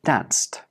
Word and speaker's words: danced: So a few examples are walked, helped, washed, and danced. Can you hear the t at the end of these words? Again, even though these words are spelled with an ed, they are pronounced with a t sound.